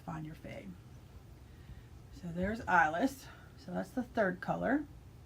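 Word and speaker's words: Eiless: And the colorway is called Eyeless, and that's spelled E-I-L-E-S-S. IS. So this is the one I ordered for my Find Your Fade. So there's Eyeless.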